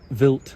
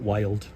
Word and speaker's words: Wild: Or it is called wild (pronounced Vilt). It is not wild, and it is made in Switzerland, German.